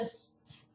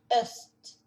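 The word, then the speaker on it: Øst: E aqui é o Ost. Norte, sul, leste, oeste, né? Então, vocês dão pra ver. Eu só vou falar, pronunciar mais uma vez. Nur, West, Sur, Ost, Ost, Ost.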